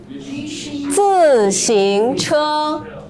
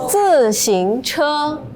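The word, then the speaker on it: 自行车: 自行车. 自行车.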